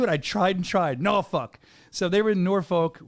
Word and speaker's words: Norfolk: Norfolk. I tried that on voiceovers. I butchered it, remember?